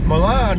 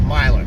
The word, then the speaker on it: Milan: Avenue got my ball Milan is actually a proper pronunciation to tell you the truth but if you're living our earlier or if you live in our area it's Milo take me through town